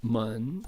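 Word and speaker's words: 門: And then mun, second tone, door.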